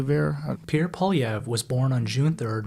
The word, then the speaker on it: Poilievre: Poly. Pierre Polyv was born on June 3rd, 1979 to a 16-year-old mother in Calgary, Alberta.